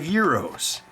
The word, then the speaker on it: gyro: buy that for five euros and then the the lamb dish from greece is a euro but it's spelled g-y-r-o oh remember when i